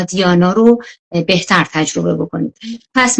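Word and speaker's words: dhyana: به این پنجمی که میرسیم حالا دوباره بهش برمیگردیم: دارانا، دیانا، حالا اینا دهارانا و دهیانا هم تلفظ میشه، و بعد سامادی.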